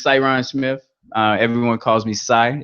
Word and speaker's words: Cy: Everyone calls me Cy. It's easy to pronounce.